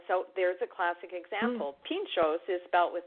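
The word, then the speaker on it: pintxos: there's a classic example Pinchot's is belt with the TX but that's pronounced like a choo like a CH oh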